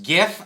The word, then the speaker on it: GIF: It is pronounced GIF. I don't care what the creator says. It's a G.